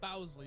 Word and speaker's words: Bowsley: Bowsley, not Barlow.